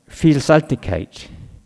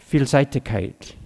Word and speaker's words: Vielseitigkeit: You tell me if I'm pronouncing this right. Vielseitigkeit. Vielseitigkeit. Vielseitigkeit.